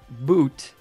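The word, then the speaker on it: Bhoot: Today's word is, and I'm not 100% sure how to pronounce it, boot. That's B-H-O-O-T, alternatively spelled B-H-U-T, is a supernatural creature,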